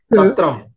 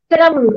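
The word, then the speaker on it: छत्रम्: Umbrella, chatram. Chatram. Again, Mahaprana syllables are not very clear. Chatram. Chatram. No, it's the same. Chatram. Alpha Prana only is coming.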